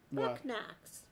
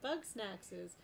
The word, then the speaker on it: Bugsnax: reading your name because i read that as book knacks right buck knacks oh yeah bucks bug snacks and that amuses me